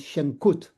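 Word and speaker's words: Shankute: My first name is pronounced like and my last name is Shankut. The E at the end is silent.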